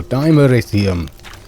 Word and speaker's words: dimeritium: Oh, dimeritium. Apparently. Because Charles Dance pronounced it that way, and he would know.